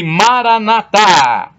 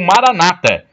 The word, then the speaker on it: Maranata: E Maranatá, como dizem os católicos, ou Maranata, como dizem os protestantes. O significado é o mesmo, mas os católicos falam com a tônica na última sílaba, Maranatá. Protestantes falam com a tônica na penúltima sílaba, Maranata.